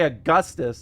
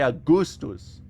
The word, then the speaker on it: Augustus: That's just classical Latin. That's it. That's why I don't say Augustus, I say Augustus.